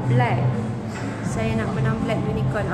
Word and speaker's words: BLVK: We spell it S-B-L-V-K. Tapi sebutan dia thank you Henry. Sebutan dia adalah black.